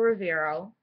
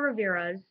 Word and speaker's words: Rivera: to talk about Geraldo Rivero 's daughter um so here we go Geraldo um riveros I'm sorry I'm just saying it wrong Geraldo Rivera's daughter Elman Paris attack survivor's